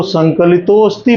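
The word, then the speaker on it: संकलितोऽस्ति: कोई स्वर आधा नहीं होता है, अ आधा होता है। तो इसको संकलितोस्ति पढ़ेंगे, ऐसे तोस्ति। अ ऐसा बोलेंगे कि उच्चारण भी हो जाए और पूरा अ भी ना आए।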